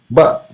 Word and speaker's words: व: It is a dantya, dantyoshtya. So it is uh, pronounced by using teeth as well as lips, danta and oshtha. That's why it's called dantyoshtya. So what is the position while pronouncing ba? Uh, uh, our lips will touch the teeth. Lips, you can say that lips will come out from the teeth while pronouncing this. Ba, ba, ba, ba. It is just ba.